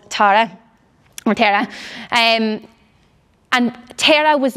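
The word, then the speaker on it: Terah: I actually don't know if I'm pronouncing the name right. Does anyone know? Is it Tara, the father? Yeah, there we go.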